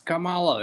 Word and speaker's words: Kamala: It's Kamala. And I'm just like laughing in my head because everyone saying her name wrong, getting offended and freaking out.